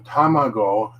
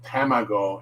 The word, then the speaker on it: tamago: an english word and for example this last one tamago which means egg people often would say the a like apple tamago and probably people won't